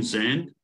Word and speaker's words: Sand: 28th uh Professor Zend I was told that that's how we pronounce his name sand he is a professor